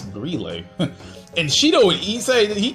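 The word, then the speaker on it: Grelle: His name is pronounced Grille. I thought it was pronounced Grell, but it's Grille.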